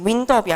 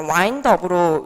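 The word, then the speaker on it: wind up: 얘를 갖다가 발음하실 때 이제 윈드업이 아니라 와인드업으로 이제 발음이 되는 건데 와인드업 하면은 이제 야구 자세도 사실 와인드업이라는 뜻이 있고요.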